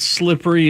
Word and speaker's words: slippery: section of the show when Carrie said slippery is 2 syllables. Slippery is 3 if you don't say it the Utah way.